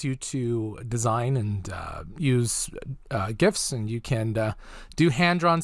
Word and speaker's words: GIF: a heads up please call it correctly it is a gift because there's already a jiff we don't need more headache